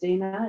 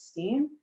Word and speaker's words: Steen: It's Norwegian, pronounced Stena in the old country, but here it's Steen. So this is just something I've come to accept.